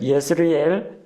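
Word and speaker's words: Jezreel: 이스라엘이라고 부르기도 하고 영어 발음 J-E를 E라고 읽기도 하고 예라고 읽기도 하고 그래서 예스라엘이라고 읽기도 합니다. 이스라엘, 예스라엘, 에스드라엘론 표기법이 조금씩 다릅니다.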